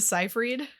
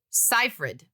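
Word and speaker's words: Seyfried: oh okay yeah uh Amanda cyphered the correct pronunciation is cyred cipher Manda cyh Cipher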